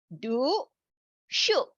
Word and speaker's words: 读数: For us to remember it easily would be 读顺, but the pronunciation would be more like Scooby-Doo, the do, and then shoot would be the shooting without T. Do, shoot.